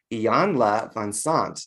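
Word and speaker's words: Iyanla Vanzant: you uh i'm going to say it right ian la von sons did i say that right yes you said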